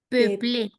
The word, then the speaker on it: peupler: ont commencé à Peuplé. Eso peupler, suena peuplé.